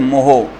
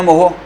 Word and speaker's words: mho: इकाई इसका उल्टा कर दो, ओम इनवर्स, या इसको बोलते हैं मोहो, MHO। क्यों बोलते हैं मोहो, ओम की स्पेलिंग उल्टी कर दो, MHO।